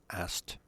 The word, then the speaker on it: asked: one kakuke and kakapunshi of ask is asked the k is not pronounced in regular sentences he asked me a question you've asked me that before k is not pronounced so it's quite easy to pronounce ast month is singular fukusu